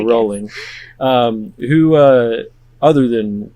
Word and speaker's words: Rowling: Rowling JK Boeing rolling JK pronounced like bowling there we go rolling um who uh other